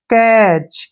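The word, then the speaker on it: catch: last में आया है जब भी टी के बाद सी एच आता है तो उसमें टी जो है साइलेंट हो जाता है तो सी का उच्चारण हम यहां पर क्या करेंगे क और ए की मात्रा ठीक है ना ऐसे और टी साइलेंट रहेगा इसमें और सीच का जो है च हो जाएगा ऐसे कैच क्या पढ़ेंगे इसको कैच कैच मीस क्या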